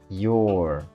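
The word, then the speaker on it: you're: You are your igualzinho a pronúncia de your, de what's your name? É a mesma pronúncia, tá gente?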